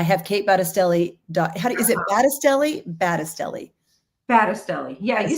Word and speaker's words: Battistelli: Is it Battistelli?